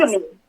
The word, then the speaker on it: Udemy: on, I may not even know how to pronounce this, Udemy or Udemy. Can you explain what that is? Udemy.